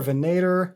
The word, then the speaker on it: Venator: name of the band v v n a t o r so venor venator don't ask me venor